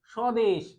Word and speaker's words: স্বদেশ: শব্দের শুরুতে ব থাকে শব্দের শুরুতেই যদি কোন ব্যঞ্জন বর্ণের সাথে ব যুক্ত হয় তাহলে সেই ব এর উচ্চারণ হয় না সে ব এর কি